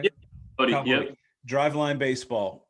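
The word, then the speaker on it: Boddy: Bodie, Kyle yep.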